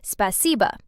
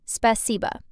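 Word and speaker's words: спасибо: In Russian, that word is spaca. You pronounce it spaca.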